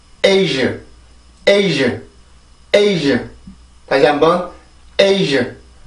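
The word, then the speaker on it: Asia: 그러면 A, A, ዥ, ዥ, A, ዥ, 에이즈, 에이즈, 에이즈. 다시 한번 에이즈, 에이즈, 에이즈. 한 번 더요. 에이즈, 에이즈, 에이즈. 자, 이렇게 발음을 하세요. 절대로 아시아, 아시아 이렇게 발음하지 말고 에이즈, 에이즈 이렇게 발음을 해주는데 지금 보면 여기에 있는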